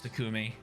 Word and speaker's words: Takumi: love a Boro uh takumi it's takumi isn't it I I always mess this up I always fix it after I hear it but it's it's emphasis on the second syllable yeah yeah that's what